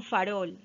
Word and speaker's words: farol: Vamos con farol. Farol, ¿ya? Rol es la sílaba tónica y fa, la sílaba átona, ¿ya?